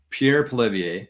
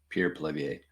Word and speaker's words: Pierre Poilievre: But here's another guy, and this is Pierre Poilievre. I think that's how you say it, Pierre Poilievre.